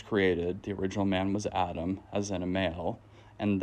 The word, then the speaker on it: Adam: of this scripture so the word Adam or as it's pronounced in the Hebrew Adam is only used as